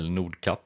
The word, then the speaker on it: Nordkapp: I decided to travel to North Cape or Nordkapp as the locals say.